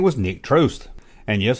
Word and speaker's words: Trost: His name was Nick Trost. And yes, I thought it was Trost, but it rhymes with toast.